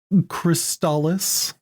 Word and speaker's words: Crystalis: you can't see it the official commercial in North America pronounces it crystallis fine butterflies in there